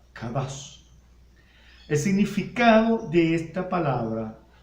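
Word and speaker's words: קדש: En el Antiguo Testamento, la palabra santificar está escrita en hebreo, con un término que se pronuncia kadash.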